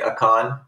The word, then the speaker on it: Akan: the akan aiken national park how do you pronounce that pecan okay i wouldn't even close all right at a con national park they had some unusual balls of